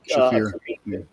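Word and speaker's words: Shaffir: Ari Shafar, I think is how you say his last name. He's Shafir.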